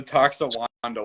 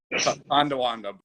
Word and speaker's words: Tonawanda: It's the Toxawanda water for me. Is that how you say it? No, Tonawanda, but Toxawanda water.